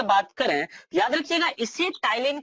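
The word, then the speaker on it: ptyalin: एक है जिसे हम लोग बोलते हैं टाइलिन। टाइलिन यहाँ पर पी साइलेंट है, इसे पटाइलिन नहीं पढ़ते हैं, इसे क्या बोलते हैं, टाइलिन बोलते हैं।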